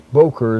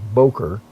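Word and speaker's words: בֹּקֶר: render is it Boker actually it's Boker is the way you pronounce that b o g r is Boker properly Dawn is the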